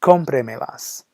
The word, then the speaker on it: cómpremelas: So we have cómpremelas. And then you have to make sure the accent is on that first O in order to keep compre sounding the same.